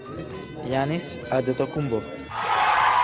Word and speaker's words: Giannis Antetokounmpo: How exactly do you pronounce your full name? Giannis Antetokounmpo.